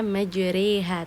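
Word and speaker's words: مجراها: Jadi ketika kita menemukan tanda imalah, kita wajib memiringkan bacaan tersebut yang tadinya berharakat fathah menjadi kasrah jadinya majriha terdengar seperti huruf E di situ.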